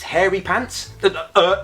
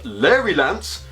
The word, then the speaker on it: Larry Lance: "Oh," said Mia, "that's very kind of you, noble knight Hairy Pants. It's pronounced Larry Lance."